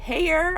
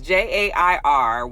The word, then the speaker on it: Jair: The current president is Jair, I believe, is Jair, which usually J, is a silent letter.